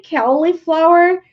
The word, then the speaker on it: cauliflower: lady at the supermarket answer they just say Kelly flower and she said yeah so I'm sorry it's